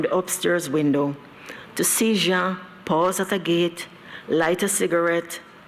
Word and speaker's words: Jean: His name must be pronounced Jean. In order to sound it right, you must glide it over your back teeth, then express it out of a half-open mouth.